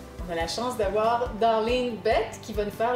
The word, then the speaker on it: Darlene: Non, on dit pas Darlene, on dit Darlene. Puis ça s'écrit D-A-R-L-E-N-E et non ma chérie Darlene, mais on peut dire...